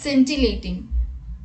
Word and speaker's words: scintillating: In this, C is silent, so the word is pronounced as scintillating.